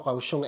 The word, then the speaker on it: Kaohsiung: Yun nga pala yung pronunciation daw. Kaohsiung, ito na mismo nagsabi.